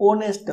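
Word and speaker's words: honest: और second example, an ऑनेस्ट person, हम ऑनेस्ट, ओ का साउंड निकालता है, ऑनेस्ट, ये साइलेंट रहता है, तो इसमें भी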